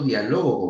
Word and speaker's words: dialogo: tercera persona diferente decir yo dialogo con ustedes dialogo mayor fuerza de voz en la la penúltima sílaba es una grave llana